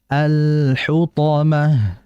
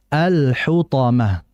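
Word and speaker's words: الحطمة: dibaca W adramal hutomah alhutomah jadi jangan cepat-cepat kemudian berikutnya dalam pengucapan huruf tho jangan dimonyong alhutah hutomah tidak alhut alhutomah jadi ketika hannya itu Ma ketika membaca th Netral bibirnya alhutomah Walaupun ada beberapa Syekh yang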